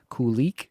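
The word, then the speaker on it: Kulich: unchanged here so you still got the Baseline Kik which I am told is how it's pronounced Yuri Kik alongside uh petka and Thompson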